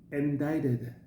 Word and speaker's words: indicted: I've been indicted. Okay, you don't pronounce the C.